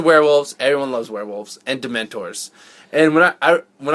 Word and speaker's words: Dementors: pronounced it wrong I I pronounced it demon TOS which if you say if you listen to how I say it it still kind of sounds the same yeah well there's yeah